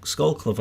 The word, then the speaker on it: Skolkovo: and build their own facilities in Russia in Skolkovo. Did I say it right that time? Right. Skolkovo.